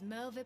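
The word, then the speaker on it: Merlwyb: There, by the grace of the Navigator, were the mercenaries Merlvip hired able to fend them off. W's are pronounced like V's.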